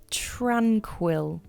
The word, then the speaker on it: tranquil: Tranquil. The pronunciation is tranquil. The stress is on the first part of the word, tranquil.